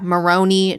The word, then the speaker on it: Maroney: Is it Maroney? Mm-hmm. Yeah, Maroney Johnson. And I just keep wanting to be like macaroni.